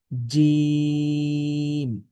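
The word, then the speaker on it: جيم: জিম। জিম অক্ষর কেমন করে পড়তে হয়? জিম অক্ষর জিহবার মধ্য থেকে শক্ত করে পড়তে হয়। তো কিভাবে শক্ত করবেন? শুনুন এবং আমার সাথে সাথে বলার চেষ্টা করুন। জিম।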